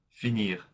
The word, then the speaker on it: finir: All verbs of the second group end in IR, which is pronounced ir, finir.